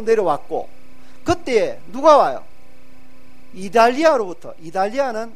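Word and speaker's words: Italia: 이달리아는 영어 발음을 부드럽게 하는 거예요. 이탈리아 이러면 안 돼요. T를 아주 부드럽게.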